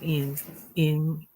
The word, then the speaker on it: Ian: Ian sounds like, and a lot of people would say it wrong. Ian. They would say it like more with the I.